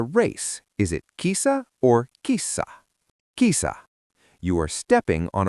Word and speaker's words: kissa: Is it kisa or kissa? Kisa. You are stepping on a rug. Is it mato or matto? Matto. You see a cat. Is it kisa or kissa?